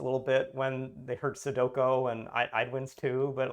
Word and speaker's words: sudoku: with a knowing sense there are like eight ways you could pronounce the the u's and o's and i've heard all of them soduco is is i think the most common uh really really off way but i at least